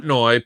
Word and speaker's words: Portnoy: Portnoy? Portnoy pizza reviews.